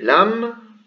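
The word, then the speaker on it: لام: Le lam, voilà, qui se prononce comme un L.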